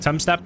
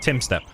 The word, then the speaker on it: Tumstep: Tim step is it to us in England it looks like Tom step and if you're American probably thumbstep apparently you say it like Tim step so it's Timmy versus